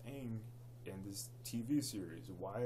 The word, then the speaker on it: Aang: that good and two they pronounced the freaking main character of the movie his name wrong the entire series I believe his name is pronounced Aang and this TV series